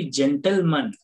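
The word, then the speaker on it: gentleman: Next ನೋಡಿ ಜೆಂಟಲ್ಮನ್, ಜೆಂಟಲ್ಮನ್ ಅಲ್ಲಿ ಜಿ ಆದ್ಮೇಲೆ ಏನಿದೆ ಇ ಅಕ್ಷರ ಇದೆ, ಆದ್ರಿಂದ ಇಲ್ಲಿ ಜ ಉಚ್ಚಾರಣೆ ಕೊಡ್ತಾ ಇದೆ.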